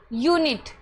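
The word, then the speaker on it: unit: यानी कि स्टार्टिंग में आपका यू है। फिर क्या है? एन कंसोनेंट है। फिर क्या है? आई यानी कि वोवेल। फिर है टी। यूनिट।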